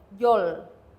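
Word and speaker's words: យល់: the word understand this is the in B Yol Yol or you could think of it as Yol Yol but either way it has to be fact Yol as an a book Yol or Yol uh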